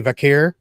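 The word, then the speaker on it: Vaquer: Stephanie Vakir, Vaker, Vakair, whatever.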